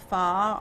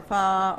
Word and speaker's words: pho: is spelled pho okay known as far or far or foe depending on who you are but this